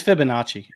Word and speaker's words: Fibonacci: after the other uh paul as well it's fibonacci fibonacci okay fibonacci so you know this is